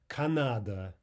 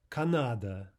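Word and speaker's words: Канада: Canada, Canada. And you see how this works out. First syllable directly before the stressed syllable, ah. stressed syllable, of course, ah. Third and final unstressed syllable, Canada, Canada.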